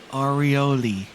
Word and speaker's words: Orioles: Just say it like this, Chris. Oreo. Then add an L at the end. Oh, Oreoli.